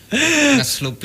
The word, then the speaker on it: ngeselupi: Saya bacanya melungsungi ngeselupi gitu loh, Mas. Ngeslupi. Ngeselupi itu berarti NG loh, Mas. Bukan NY ya.